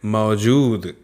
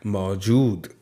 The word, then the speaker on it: मौजूद: फिर है मौजूद, देखिए ज में बड़े ऊ की मात्रा है तो इसलिए हमने थोड़ा सा लंबा इसका उच्चारण किया। मौजूद, बोलिए मेरे साथ, मौजूद, बिल्कुल सही।